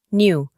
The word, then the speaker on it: knew: En el pasado simple es knew. Como pueden observar, la letra K no se pronuncia y la E la reemplazamos por la I.